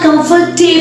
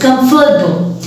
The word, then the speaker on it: comfortable: It's not comfortable chair, it's comfortable. Number two, the word is vegetable.